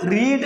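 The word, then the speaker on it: read: അതുപോലെ റീഡ് എന്ന് പറയുന്ന വെർബിന്റെ സെക്കൻഡ് ഫോം ആണ് റെഡ്. Spellings are same but pronunciations are different. ഉച്ചാരണം വ്യത്യസ്തമാണ്, പക്ഷെ സ്പെല്ലിംഗ് എന്താണ്, സെയിം ആണ്. റീഡ്, റെഡ്, റെഡ്.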